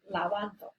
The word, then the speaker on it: lavando: Is it lavando, lavando, or lavando? And you should come up with, it's this one, lavando. Just think about how it's pronounced, lavando. So that's where your accent goes.